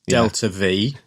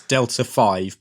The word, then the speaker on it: delta-v: Pronounced Delta V. None of this Delta 5, please.